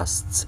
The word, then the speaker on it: asked: asked ya guys ya asked itu bacanya as as to Recall kalau ask Ask doang gimana ya ask pakai k ask kalau apa ada ed-nya itu mati t ya t as as to Recall and relate